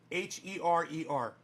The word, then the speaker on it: Herer: H-E-R-E-R. Jack, the easiest way to remember how to say his name. Herer. Just grab your hair down here.